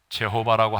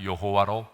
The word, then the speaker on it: 여호와: 여호와라는 이름이 된 거죠 우리는 영미의 영어 번역을 받아 가지고 영향을 받았기 때문에 재호바라고 하지 않고 그냥 여호와로 부르는 거죠 그래서 불려진 이름이 뭐예요